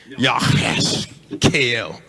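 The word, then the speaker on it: יחזקאל: The way to pronounce Ezekiel in the Hebrew is YAHASHKL. YAHASHKL. Y'all try to say that with me.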